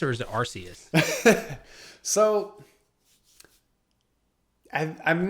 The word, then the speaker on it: Arceus: guess you like work your way up to Arceus or something, then you battle Arceus or something.